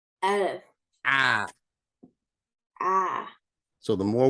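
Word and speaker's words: ألف: So Aleph would be ah. See, ah, like Hamza is ah. Aleph is ah. Say both of those. Say Hamza. Hamza. Ah. Ah. Aleph. Aleph.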